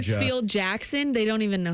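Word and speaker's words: Hartsfield–Jackson: Hartsfield Jackson.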